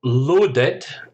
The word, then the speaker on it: loaded: Then we've got loaded, again ed, but this time an extra syllable. You have load, loaded, affluent, miserly.